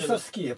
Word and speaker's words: бесовские: Бесовские, понимаешь, как вот куда ударение держишь, на последнее. Бесовские.